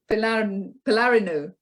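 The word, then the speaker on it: Pylarinou: EFI and then p-y-l-a-r-i-n-o-u and how do you pronounce that um palarino good thanks for that that was Thomas putting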